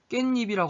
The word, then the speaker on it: 깻잎: 깨입이라고 안 하고 깻잎이라고 하잖아. 이렇게 발음하잖아. 깻잎. 그러니까 니은이 덧나버렸죠? 니은이 추가됐죠?